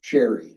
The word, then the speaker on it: Sherry: Sherry, Okay. just as it's spelled.